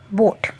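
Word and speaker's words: boat: तो इसको बोलेंगे ब ओ ट ए को तो हमें यूज़ ही नहीं करना। साइलेंट मतलब यूज़ नहीं करना। ब ओ ट बोट।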